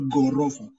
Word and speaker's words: gorofa: And the letter GH, I've said, you pronounce it Gali. Gali or Gorofa. So in the GH, in the GH pronunciation, you'll tend more to ignore the letter H in the pronunciation. H. So it becomes gali. Of course, you put the letter H, you will say gali. You'll say gali. And you say gorofa. Gorofa.